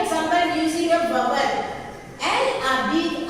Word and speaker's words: habite: Elle habite à Pondichéry. So she lives in Pondicherry. Okay? So how will you frame this sentence into negative? Elle n'habite. So here we can see H muet. Okay? H silent.